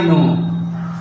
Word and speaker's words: know: अब देखिए, मैं जानता हूं तो आई नो, KNOW। यहाँ के क्या है, साइलेंट है।